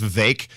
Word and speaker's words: Vivek: By the way, I think we've been pronouncing it wrong. I think it's Vivek. Vivek like cake is how I remember that.